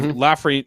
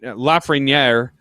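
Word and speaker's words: Lafrenière: it then you have lafrey lafreniere who is finally said it right who is finally starting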